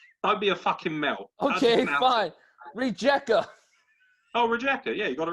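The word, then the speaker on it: Rijeka: team i j e what r i g pronounce it i'd be a mel okay fine rejecter oh rejecter yeah you got it right um rejecter versus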